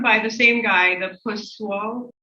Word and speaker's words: Poiseuille: work was done by the same guy the pus wall p o i s e u i l l so you can spell it so his law and he heard a